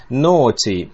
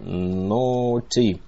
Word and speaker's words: naughty: Обращаю ваше внимание на то, как читается это симпатичное слово. Naughty. Вот эти вот... вот это сочетание букв. Вот это вот все. A-U-G-H. По сути дела, читается все это как «о». А дальше остается ти добавить. Naughty.